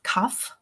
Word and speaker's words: cough: Yeah, all of those words feature a spelling O-U-G-H in them, but cough, the O-U-G-H is pronounced off.